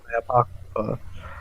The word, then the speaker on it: Apocrypha: I love the apocrypha.